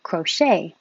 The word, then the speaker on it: crochet: not very hopeful dreary crochet stress on the second syllable crochet and this word spelled